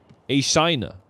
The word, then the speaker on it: Ashina: a rumor all along so unseen hate baby arshina oh she a shiner a shiner that's time pronouncing it from now on okay after that